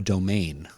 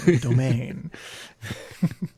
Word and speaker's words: Domaine: I usually see with a trailing E, domain. It just makes you want to say it like it's French.